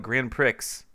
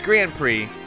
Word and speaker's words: Grand Prix: Prix mode and uh I used to call it Grand Pricks way back when because like I didn't know how it was spelled like I knew Trix serial right and I never heard it pronounced but it's Grand Prix mushroom cup and way